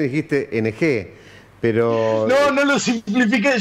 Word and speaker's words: Ng: que charlarlo un rato viste Ahí está entonces ing sería la pronunciación muy bien muy bien fantástico Bueno gracias